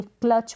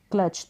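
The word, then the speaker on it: clutch: क को क पढ़ेंगे क्लच पढ़ेंगे क्लच तो जो टी है इसका साउंड आपको सुने नहीं दे रहा होगा तो यहां पर साइलेंट है क को क्लच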